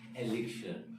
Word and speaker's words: elixir: बोलते समय जो है बहुत से इसको एलिक्सियर बोलते हैं. That is not correct. ठीक है. तो अगर इसे प्रोनाउंस करते हैं तो अमेरिकन इंग्लिश में अगर बोलेंगे तो इसे बोलेंगे एलिक्सर और ब्रिटिश में अगर कहते हैं तो एलिक्सा. ठीक है. तो जो है एलिक्सा या एलिक्सर तो ये इसका करेक्ट प्रोनाउंसिएशन है.